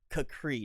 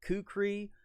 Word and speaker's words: kukri: video and air free pronunciation I found was supposed to be Capri not kukri not Q Cree it was Capri every pronunciation was a sound to it so I know somebody